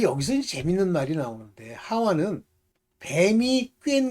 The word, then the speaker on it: 하와: 그래서 아담은 그 아내를 하와라 이름하였으니 모든 요게 이제 그 헬라 말로나 헬라어나 히브리 말로는 이게 하와 이렇게 발음하지만 실질적으로 영어로 하면 이브입니다.